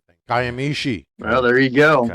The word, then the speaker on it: Kiamichi: And so he's going to give us hell for mispronouncing things. Kiamichi. Well, there you go. Okay. We get it. Kiamichi.